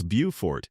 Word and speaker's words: Beaufort: Say it right, it's Beaufort. And yes, the locals will absolutely correct you.